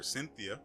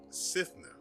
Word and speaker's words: Sitha: going to be honest I've been mispronouncing this um thing's name apparently I have only been paying partial attention because I've been calling her Cynthia and not sitha whoops well we've got